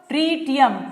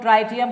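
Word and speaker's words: tritium: ट्रीटियम. ट्रीटियम. कुछ लोग ट्राइटियम करते हैं, जैसे तुम्हारा प्रोनाउंसिएशन वो तुम्हारा है, आई एम नॉट the English teacher.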